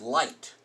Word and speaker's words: light: example light you know this isn't liquid it's light this is just one of those weird rules in English IgH makes eye light or fight again